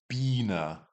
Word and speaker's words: Biene: If you see an IE, you're pronouncing it like the English E. So it's die Biene, die Biene, the bee.